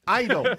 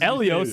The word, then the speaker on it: Eidos: Eidos. Extra I in there. Yeah, it's years. Elios. This ain't Elios Pizza. Years of me saying it wrong.